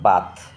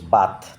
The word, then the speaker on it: bath: ওকে, তো এখানে থ হচ্ছে, বাথ হচ্ছে, মানে হচ্ছে স্নান করা।